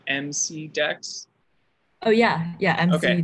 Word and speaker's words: MCDEX: Is that the one that's spelled MC Dex? Oh yeah, yeah, MC okay. Dex. Okay, but it's pronounced McDex, like McDonald's. Like, yeah, kind okay.